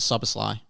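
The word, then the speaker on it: Szoboszlai: Okay, so I can never say it, but I've got Soboslai.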